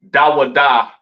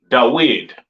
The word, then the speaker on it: David: Mm, they don't call King David Dawada correctly pronounced in the ancient Hebrew. They call him Dawid, all right?